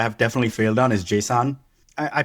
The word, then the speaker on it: JSON: definitely failed on is JSON. I I pronounce it like more JSON rather than JSON because like people will hear JSON and be like who what? Yeah, it's not Jason. It's JSON.